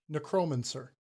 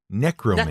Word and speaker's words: necromancer: That the first syllable, the NE, is the accented syllable.